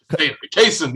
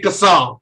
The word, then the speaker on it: Kaysen: How did he say it? Kaysen? Kaysen, yeah. I kept saying Kassan. I like I Kassan. was saying it wrong, or the human amplifier said it wrong.